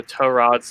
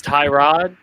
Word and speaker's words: Tyrod: want to you know they say oh torad's the right way but i want i want to see tyrod himself come out and tell me give me a little tutorial on how to pronounce his name then i'll do it however he wants but until then he's tie rod because then i can